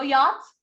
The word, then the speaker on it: yacht: my hands you know yachts no no the ch is not pronounced this is yacht okay yeah a bigger